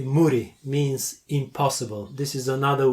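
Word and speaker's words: 無理: for you to learn muri okay what was that again yeah means impossible like like uh you pronounce it like the word moody in English Moody not d m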